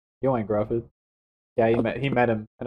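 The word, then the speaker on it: Ioan Gruffudd: Can I tell you how to pronounce it? Yoan Grufford. Joanne Grufford. Yoan Grufford.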